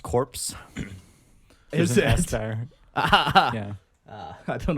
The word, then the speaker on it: Korps: that case let's um it's pronounced corpse here's the ester i